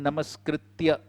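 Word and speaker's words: नमस्कृत्य: It is Narayanam namaskritya. Okay, so sometimes speakers tend to say namaskrityam, so to rhyme with narottamam, but it is only namaskritya.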